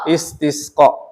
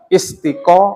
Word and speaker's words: istisqa: bareng-bareng semuanya is istisq Istisqo istisq Oke sudah gitu pengucapannya gitu ya Jadi bukan istiqo atau istika dan macam-macam jadi namanya is is